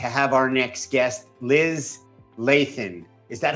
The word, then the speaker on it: Lathan: Thrilled, enthralled, excited to have our next guest, Liz Lathan.